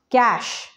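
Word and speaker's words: cache: skin okay let's go to the next one cash it's not the money cash it's the computer's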